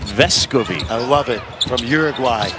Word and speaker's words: Vescovi: He basically was letting everybody say his name wrong for the first little while, but the emphasis on the first part is what he said, Vescovi.